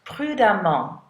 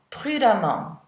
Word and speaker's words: prudemment: Notice that the emment is pronounced prudemment, prudemment.